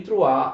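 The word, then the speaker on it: Troyes: attenzione si scrive troyer con la y però si legge trova d'accordo il trattato di prua il trattato di trois e umiliante e devastante per la francia cosa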